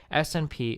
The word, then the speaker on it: SNP: SNP is an acronym for single nucleotide variant, pronounced like the English word SNP.